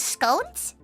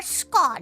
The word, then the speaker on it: scone: the second tier is scones it's usually one one plain scone and one raisin scone or Scot whichever one you want to pronounce it as with cotton cream and